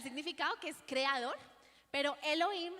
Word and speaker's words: Elohim: O sea, está el significado que es creador, pero Elohim se escribe E-L-O-H-I-M, o sea, como si fuera Elohim, pero con H.